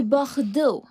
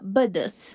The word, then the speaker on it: Bordeaux: Et Bordeaux, pas Bodos.